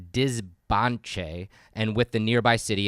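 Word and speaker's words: Dzibanché: the capital of the Canal Kingdom, which is pronounced Dizbanche, and with the nearby city of El Peru, Huaca.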